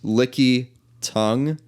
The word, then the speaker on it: Lickitung: a bit odd so it's it's licky tongue and tongue is spelled t-u-n-g instead of how instead of how tongues normally spelled right I spelled it